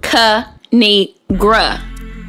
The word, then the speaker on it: Kinigra: It's pronounced Kinigra.